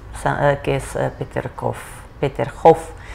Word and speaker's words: Peterhof: que es peter coffey peterhof se pronuncia en ruso se suena como pictures gov a que también fue